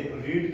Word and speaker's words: read: भी ऐसे करते हैं, लेकिन जब हम बात करते हैं उसकी थर्ड फॉर्म की तो उसको रेड पढ़ा जाता है।